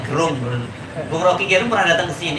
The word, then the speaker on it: Gerung: Sebelum saya mulai saya mau tanya, beberapa waktu yang lalu sebelum pandemi kan pernah juga Bung Rocky Gerung ya, bacanya Gerung.